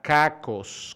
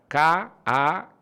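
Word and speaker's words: κακός: Por ejemplo, la primera palabra es la palabra kakos, con K, con doble K, K-A-K-O-S, kakos.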